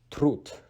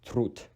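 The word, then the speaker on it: труд: When D is placed at the end of a word, it is pronounced as T, which we'll be explaining about that letter later as well. So trud means labor or work.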